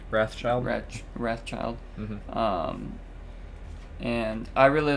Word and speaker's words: Wrathchild: People, from what I heard, like Ratchild is how you say it. Wrathchild.